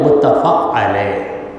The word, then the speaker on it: متفق علیہ: سے نکال دیے تو ہم کہیں گے متفق علیہ۔ متفق علیہ صحیح ہے۔ اب جن کو یہ تلفظ نہیں معلوم وہ بیچارے متفق علیہ، متفق علیہ، متفق علیہ، علیہ کے بجائے علیہ بھی پڑھ لیتے ہیں، نہیں معلوم۔ تو